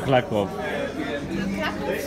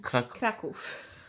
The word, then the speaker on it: Kraków: Oh, that was a weird pronunciation. Kraków. How we do Krakow.